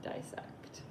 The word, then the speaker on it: dissect: dissect a economy misconception is that die is the prefix on that word but it's dis don't we pronounce it dissect go ahead and get